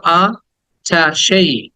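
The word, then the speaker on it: attaché: me fast word is আমরা এটাকে এটাচ বলি এটাচই না এটাচ না হ্যাঁ এটাচ বললে এটা অন্য শব্দ এটাচ এটা ভার্ব এটা মানে যুক্ত করা সংযুক্ত করা কিন্তু এটা হচ্ছে 28 28 বলো আ ঠা সেই আঠা সেই আঠা সেই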